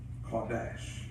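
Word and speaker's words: קֹדֶשׁ: The in the Hebrew, consecration is Kodesh. That's the pronunciation of it.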